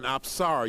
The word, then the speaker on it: Apsara: And specifically, she is called an Apsara. You spell that A-P-S-A-R-A.